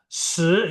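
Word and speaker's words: 十: Se itu kan sh ya. Jadi lidahnya itu harus agak naik. Seateri kita sebelumnya kan. Kalau empat itu si I enggak ada H-nya.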